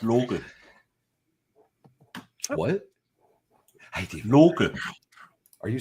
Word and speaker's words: Loki: So for anybody that hasn't followed on what this conversation's been about, apparently Loki shouldn't be Loki. It should be Loke.